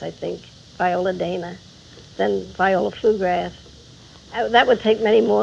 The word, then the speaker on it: Flugrath: Arthur Hopkins thought that the name flu grath which a lot of people can't seem to pronounce which is very funny to me because you can say McGrath very easily why not flugrath well he didn't think